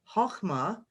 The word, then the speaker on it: Chokhmah: and goes to this sphere here, which is pronounced Chokhmah, which means wisdom.